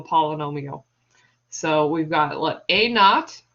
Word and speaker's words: naught: So we've got a naught. So a with a 0 as a subscript is pronounced naught.